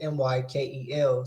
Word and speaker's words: Mykkel: I'll say it like Michael Mykel.